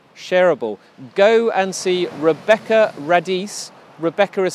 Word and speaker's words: Radice: go and see Rebekah Radice Rebecca is spelt with ka h on the end by the way ray dese are a DIC e google her name you'll